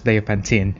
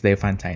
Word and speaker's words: Diophantine: um i just searched it can be pronounced in the u.s english as dia pantin so in in britain so it's the fun time anyways let's carry on